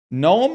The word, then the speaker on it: gnome: Gnome and mnemonic have the silent letter at the start. Okay, same with knee.